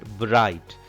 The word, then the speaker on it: bright: GH are two letters which are silent in this word bright.